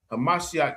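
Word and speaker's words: המשיח: Hamashiach Yahawashi. You know what I'm saying? That's how you say it in the Hebrew.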